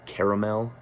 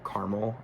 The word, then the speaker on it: Caramel: So yeah, my number eight, even though for my number seven, I have uh Caramel or Caramel is how I would pronounce it, but in the song he pronounces it. Caramel.